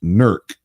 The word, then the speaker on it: Newark: um Ohio is pronounced nerc uh-huh it's kind of a mix of West Virginia and Pennsylvania accents when you say you